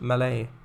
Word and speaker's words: Mallet: car assets over here mallet the locomotive was actually pronounced malay rhymes with valley oh mally oh you